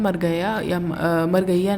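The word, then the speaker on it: Margayya: तो इसमें एक मरगैया कैरेक्टर होता है, मरगैया नाम से जान लो, द वे शोवर, ठीक है। मरगैया इसका प्रोनाउंसिएशन है और ये एक बैंक एम्प्लॉई है, ओके।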